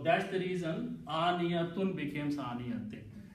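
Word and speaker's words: عانية: So that's the reason aniyatun becomes aniyatin. And when you stop, you still pronounce aniya. Okay? You don't pronounce tin or tun.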